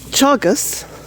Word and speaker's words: Teagasc: So, Teagasc, that's how it's pronounced.